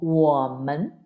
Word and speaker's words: 我们: Mas ele pronuncia como woman, woman, woman, woman, ok?